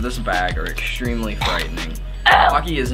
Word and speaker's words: Paqui: Paqui, it rhymes with hockey, is an Aztec word meaning to be happy.